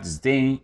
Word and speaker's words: disdain: The stress is on the second syllable. It might be used as a verb or noun. If you have disdain, you have a feeling of not liking or hating someone or something.